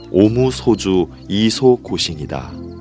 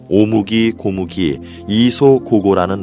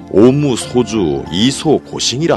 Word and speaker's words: 오무소주 이소고싱: 응당 머무름 없이 그 마음을 낸다는 응무소주 이생기심을 일본 발음으로 하면 오무소주 이소고싱이다. 어느 스님이 오무소주 이소고싱이라 하는 것을 잘못 듣고 오무기 고무기 이소고고라는 말로 외워왔던 것이다. 그 발음은 잘못된 것이니 앞으로는 오무소주 이소고싱이라 하시오.